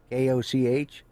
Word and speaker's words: Koch: Koch, Cook. Yeah. And they pronounce it Cook.